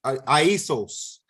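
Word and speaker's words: Ἰησοῦς: Aisos is how they say it in the Greek, Aisos.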